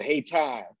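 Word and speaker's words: Hayti: durham uh which uh coincidentally uh were called hey tai uh right that's how locals pronounce it but of course it's spelled uh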